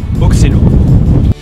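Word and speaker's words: Oxelaëre: qu'au sud, on a le village d'Auxolar, qui en flamand se prononce Oxelo.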